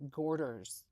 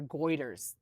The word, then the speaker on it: goiter: These are much large larger like gorders. Goiters or goiters uh is how you pronounce it.